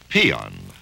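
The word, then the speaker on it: paean: There is a word pronounced peon and spelled P A E A N.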